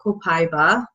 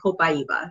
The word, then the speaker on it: Copaiba: You might have been seeing my posts about Copaiba or Copaiba, depending on how you choose to pronounce it. I like to say Copaiba. It's just way more fun to say. So tonight we're going to be calling it Copaiba.